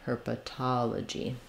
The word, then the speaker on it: herpetology: that we have for words with ology like psychology cosmetology herpetology are stressed on the um not the second to last the third to last syllable the TA syllable so we have again kind of her and then letter O says Ah her Pata and then this second letter O is going to be another schwa sound la G um herpetology if you're having trouble